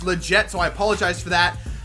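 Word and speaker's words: Lletget: Dempsey up top Legette I know I was saying his name wrong in the last episode it's not let get it's legit so I apologize for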